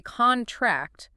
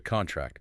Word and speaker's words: contract: If you say contract with stress on the first syllable, it's a noun, the piece of paper. The contract.